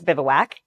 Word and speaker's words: Bivouac: First question everybody asks is how do you pronounce it? Um, and it's Bivwak.